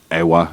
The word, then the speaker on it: Ewa: uh air station at Eva or AA as some people pronounce it Ewa that was also attacked